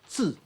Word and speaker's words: 渚: 'zhe' on the right The whole word is pronounced as zhu. This word 'zhu' is very important to